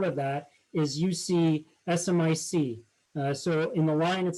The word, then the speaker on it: SMIC: that is you see smic so in the line it says diminishing friendly supplier base with china rising so smic or smick how some people pronounce it recently blacklisted by the